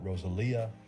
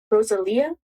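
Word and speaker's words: Rosalía: Oh, is that how you say her name? Rosalia? I mean, yeah, that's like the Spanish way to say it. I never heard anyone actually say it that way.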